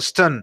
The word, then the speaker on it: stunned: Entonces tiene dos sílabas, pero se sigue pronunciando stun.